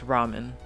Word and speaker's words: ramen: Coaster Dog, how do you pronounce ramen?